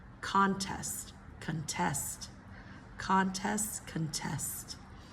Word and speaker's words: contest: Nouns typically first syllable, verbs second syllable, okay? Again, we've done this one before. Address. Address versus address. Address versus address. Conflict. Conflict versus conflict. Conflict. Conflict. 3. Contest.